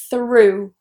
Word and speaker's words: through: Through. Through. So what we have here are essentially 3 sounds. We have that TH, this is a voiceless TH.